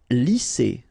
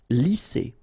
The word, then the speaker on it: lisser: Lisser. Same thing here. Double S, S. Lisser.